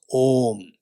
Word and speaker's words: om: ma not a and it should not be pronounced as it should pronounce as om this how the language